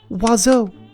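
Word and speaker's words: oiseau: might not exist but this is the French word for bird and it is pronounced wazo how could that be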